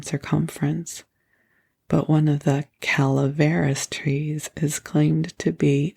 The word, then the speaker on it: Calaveras: I do believe it is Calaveras, and I have been mispronouncing it, so if that annoys you, I am so sorry.